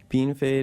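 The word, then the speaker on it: Bienfait: So you grew up in Beanfate, Saskatchewan.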